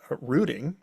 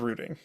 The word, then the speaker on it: routing: Um, and also it can in the alternate pronunciation of rooting.